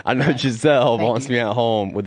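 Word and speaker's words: Gisele: Giselle. Yeah. I know. Gazelle wants me at home. Say her name right. Say her name right. I know Giselle wants me at home with the kids, but we'll see.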